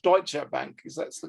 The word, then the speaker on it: Deutsche Bank: But obviously I speak German, and it's called Deutsche Bank, because that's the correct pronunciation of that bank.